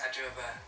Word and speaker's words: Adwoa Aboah: I am 21 years old, I'm from London, and my name's Adwoa Aboah. So I think I pronounced her name correctly.